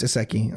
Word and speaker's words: isekai: For the commenters, it is pronounced isekai.